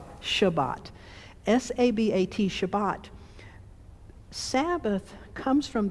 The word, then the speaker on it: Shabbat: to pronounce this but the hebrew verb sabbat s-a-b-a-t shabbat s-a-b-a-t shabbat sabbath comes